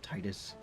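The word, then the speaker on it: Tidus: Titus, like tidal wave, tide.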